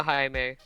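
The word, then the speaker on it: Jaime: In in Spanish speaking and Latin American countries, uh the J is typically pronounced with a H sound.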